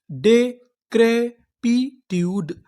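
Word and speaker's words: decrepitude: मैं आपको बता दूं अगर आपको इंग्लिश की किसी भी मीनिंग के आखिरी में इ लिखा मिले तो हम लोग इ का उच्चारण नहीं करते। हम लोग इ से पहले तक का उच्चारण करते हैं।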